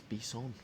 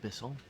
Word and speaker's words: Bisson: As I correct my pronunciation, it's Bisson, not Bisson.